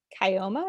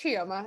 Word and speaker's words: Chioma: Kioma, is that how you pronounce it? It's Chioma. It's a Kioma, hard okay, name.